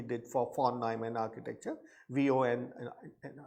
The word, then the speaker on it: von: for von Neumann architecture, VON, right? So von is VON, that's what you should remember, the pronunciation for that scientist.